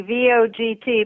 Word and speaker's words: Vogt: And did I pronounce your last name correctly, Vogt? Actually, thanks for asking. It's a hard one. It looks so easy, V-O-G-T, but it's pronounced Vogt, as in election day.